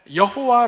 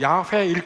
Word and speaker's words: 야훼: 구약 성경 에 나오는 여호와 를 가리킵니다 . 구약 성경 에 하나님 의 이름 이 나올 때 , 사람들 은 일반 적 으로 원래 발음 이 여호와 가 아니라 야훼 라고 생각 합니다 .